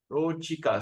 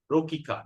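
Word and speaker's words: rocikā: Rochika. So whenever you see we pronounce as cha, not like like an English pronunciation we call as K. Rokika, not Rokika. So Rochika.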